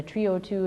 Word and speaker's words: trEE O2: The capital EE in Trio 2 stands for energy efficiency, and then the Trio 2 is meant to rhyme with CO2.